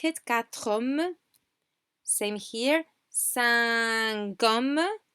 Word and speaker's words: cinq hommes: Cinq hommes, cinq hommes. We pronounce the Q, but we pronounce it linked to the next word.